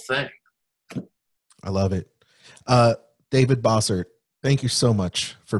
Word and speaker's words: Bossert: I oftentimes people will say Bossert instead of Bossert. So it's funny with that name, the first four letters, that's what people used to call me, but not pronounce boss. They used to call me boss.